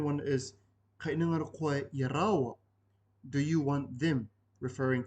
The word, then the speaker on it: iaraua: If you replace the word iaia with iaraua, which is spelled I-A space R-A-U-A, iaraua, this means, do you want them, as in two people.